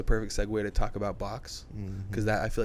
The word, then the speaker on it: XOB: It's spelled XOB, but it's pronounced Box, just because.